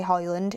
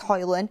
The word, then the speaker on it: Højlund: It's kind of like Rasmus Højlund. You know, you don't say Rasmus Højlund. Loads of people say Højlund. It's Højlund.